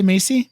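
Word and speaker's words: Maisie: name Macy Williams oh that's how you say Macy Macy Williams who plays rain Sinclair Rayne Sinclair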